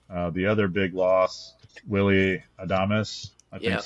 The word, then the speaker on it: Adames: The other big loss, Willie Adames, I think that's how you say it.